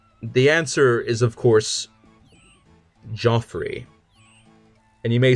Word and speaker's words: Geoffrey: be exactly a minute to answer that question g e o FF r ey how do you pronounce that the answer is of course Joffrey and you may say no it's Geoffrey well